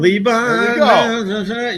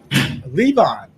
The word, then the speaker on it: Levon: some policies yeah and some Talent wait we pronounced his name correctly Lebon Leon you were thinking John I was thinking John I was thinking of Leon Leon Helm Leon hel hel with the band Levon yes yes he he and bees are interchangeable